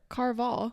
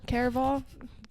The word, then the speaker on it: Caraval: Because I did it for Carval. Mm-hmm. Did I say that right? Caraval.